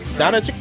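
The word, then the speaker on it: Dončić: And Luka, what's the correct pronunciation of his last name? Donachik.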